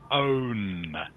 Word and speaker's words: own: And mingang, this word here, okay, is pronounced own.